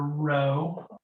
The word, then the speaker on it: rho: So real quick, this guy, it's the Greek letter rho, R-H-O, but phonetically, it's like row, row, row your boat.